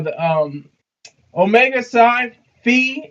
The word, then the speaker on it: Phi: what are they call the um Omega side fee it's Fe by the way if you read this is how this is the power of reading it's not fi it's fee Phi is Fe it's pronounced Fe